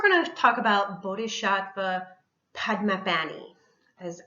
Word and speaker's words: Padmapani: All right, so next we're going to talk about Bodhisattva Padmapani, is how you pronounce that.